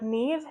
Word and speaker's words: Niamh: That's I always think of the name Neve, which is spelled Niamh, I think. But it's said like Neve, Nev, like catfish.